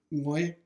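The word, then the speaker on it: 愛: But anyway, the same character in Cantonese is actually pronounced Ngoy in Cantonese. And then in Korean, it would be Sarang.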